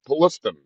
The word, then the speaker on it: Palestine: There was a train accident uh back in 2021 and a town outside of Pittsburgh called Palestine or as they pronounce it Paliston.